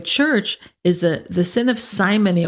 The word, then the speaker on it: simony: So one of the worst sins in the church is the sin of simony, or some people pronounce it simony, S-I-M-O-N-Y, and that is charging money for sacraments and things like this.